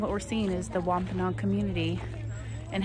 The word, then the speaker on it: Wampanoag: arrived before the Pilgrims and they're called the Wampanoag I know how to say it now but